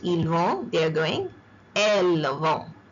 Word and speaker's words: ils vont: Ils vont, S is silent, T is silent, ils vont, they are going.